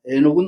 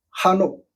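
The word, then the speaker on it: חנוך: 예를 들어서 하늘로 올라가신 에녹이라고 돼 있는데 그것도 역시 구약 성경에는 한옥입니다. 에녹은 없습니다. 한옥.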